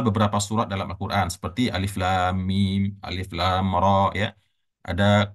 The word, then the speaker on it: Alif Lam Mim: ain Shad Nah maka caraembacanya adalah kita membaca sesuai dengan bunyi hurufnya ya Ini huruf alif dibaca berarti Alif gitu ya kemudian ini huruf lam dibaca lam ya Jadi bukan alam bapak dan ibu ya tetapi